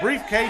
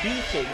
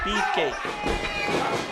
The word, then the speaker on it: Beefcake: Briefcase is going down. Beefcake. Seriously, how come you guys cannot pronounce this guy's name? It's not that hard. Beefcake.